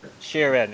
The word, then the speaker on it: Schieren: not sure how to how do you pronounce shiren is it is that shirin shiren okay yes there you go and in